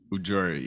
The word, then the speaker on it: Ujiri: Sorry, Darius, correct me on how to pronounce that. Ujiri? Ujiri, yeah.